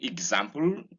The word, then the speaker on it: example: And it's important to note that there is a G inside this sound, beginning with EX, example, examination, examine, exemplify, and so on.